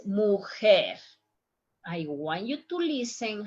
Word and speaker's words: mujer: I'm not saying mujer, it's mujer.